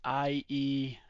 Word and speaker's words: Ieyasu: It's like, yeah, it's Ieyasu.